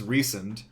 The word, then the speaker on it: Rhysand: Yeah, so I have no clue how anyone's name is pronounced. So his name is Rhysand.